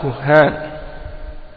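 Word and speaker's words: كهّان: Et on dit ça c'est le pluriel, kuhan c'est le pluriel, le singulier c'est kahin, hein? Donc kuhan, kahin, kahin ça s'écrit kaf, alif, ha, hein? Kahin c'est ça, kaf, alif, ha, nun, kahin. Et kuhan, eh bien c'est le pluriel, kaf, ha avec une shadda, alif, nun, kuhan.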